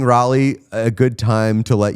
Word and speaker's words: Raleigh: I've never said Raleigh. No one says it's not Raleigh. I've made that mistake before and been corrected by a lot of North Carolinians. It's definitely Raleigh.